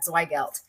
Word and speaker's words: Zweigelt: We are so excited to have you on the show, and I'm so excited to learn more about Zweigelt. Am I pronouncing that right?